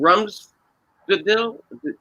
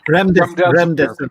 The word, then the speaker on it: Remdesivir: believe it's in Jim, correct me if I'm wrong, my pronunciation, Rumsfedil, the drug? Remdesivir. Yeah, Remdesivir.